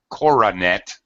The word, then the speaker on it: coronet: other one, coronet, 3 syllables, is a crown.